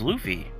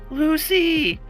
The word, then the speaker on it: Luffy: Guy saves her entire kingdom and she can't even pronounce his name right. Shake my head. Lucy. My name is Luffy. Lucy.